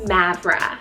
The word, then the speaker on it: Mavra: Very similar to Maven, I have the name Mavra, spelled M-A-V-R-A.